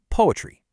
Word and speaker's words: PoAItry: You just pronounce it poetry. That's it. The AI is silent, and that's totally on purpose.